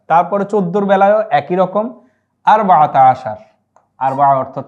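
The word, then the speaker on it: أربعة عشر: আচ্ছা, তারপরে 14-র বেলায়ও একই রকম, আরবাআতা আশার।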